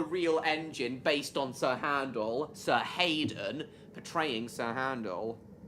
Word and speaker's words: Handel: engine based on Sir Handel. Sir Hayden portraying Sir Handel. I just like to pronounce it how it's actually spelled Stan. It's much easier on my tongue.